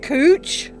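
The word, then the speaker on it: cwtch: It's pronounced cooch.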